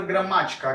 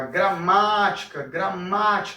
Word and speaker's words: gramática: E a palavra gramática, gramática, o ma é o que eu estico mais, é o que eu prolongo mais, então eu vou dizer que esse daqui, essa gramática, esse ma em gramática é a sílaba tônica, tá?